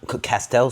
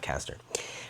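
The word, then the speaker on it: Castile: Castell oil and coconut castell soap and coconut oil. I said it wrong in our video. It's castell, not castor.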